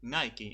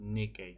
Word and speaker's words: NIKKE: So yeah, the correct is actually Nike and not Nikkei. Okay. Maybe that's how they say it in Right. Japanese, but Probably. Nike is the one.